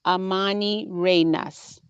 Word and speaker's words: Amanirenas: screen, is I want to talk about Queen Amanirenas. And this is the correct pronunciation of her name.